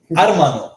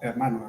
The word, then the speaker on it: hermano: Hermano. Hermano. So the H is silent.